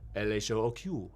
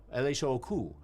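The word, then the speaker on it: L.H.O.O.Q.: Well, if you spell that out quickly, it's French. It's L-H-O-O-Q, L-H-O-O-Q, which means she's got a hot ass.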